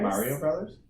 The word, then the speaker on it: Super Mario Bros.: How is that pronounced? Super Mario Bros. Mario Brothers?